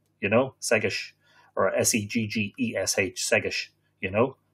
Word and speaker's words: Segais: Segais is how it's pronounced. Just think of something like S-E-G-G-I-S-H will do it. Segais, you know, Segais.